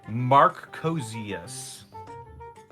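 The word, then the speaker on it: Marcusias: It's kind of petty, and I'm sorry, but my name is pronounced Marcosius. Marcosius.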